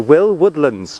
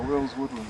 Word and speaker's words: Will Woodlands: No S on the Will, oh. S on the Woodlands.